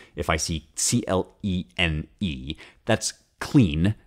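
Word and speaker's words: clene: Like here I learned, for example, that the final E in words is not pronounced. So if I see C-L-E-N-E, that's clean, not cleana, right?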